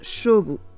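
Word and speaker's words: 菖蒲: un bain à l'iris parce que l'iris se prononce chobo comme le mot qu'on utilise pour parler d'un l'affrontement donc si vous voulez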